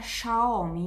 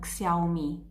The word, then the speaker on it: Xiaomi: of the spree, however, tells me is pronounced schumi non xiaomi thanks for the very